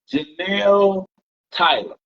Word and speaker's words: Jenelle Tyler: So let's dig into, and I want to make sure that I'm pronouncing the name correctly. Jenelle Tyler. That's correct.